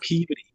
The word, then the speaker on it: Peabody: Massachusetts, in Peabody, spelled like Peabody, but actually pronounced Peabody.